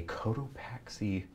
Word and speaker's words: Cotopaxi: You're winning our first item, which is, I believe, is a Cotopaxi, am I pronouncing that right? Yeah, uh-huh. That's right. Backpack.